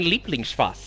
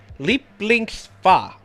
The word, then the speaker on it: Lieblingsfach: Lieblingsfach. Lieblingsfach. Yeah. English ist mein Lieblingsfach. What is dein Lieblingsfach? English oder what? There are 2 letters at the end you ought to pronounce.